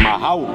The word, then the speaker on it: majao: ¿Cómo pronunciaría un camba? Es Majau. O sea, lo otro no es que esté mal, no. Pero un camba lo pronunciaría. No, es Majau nomás.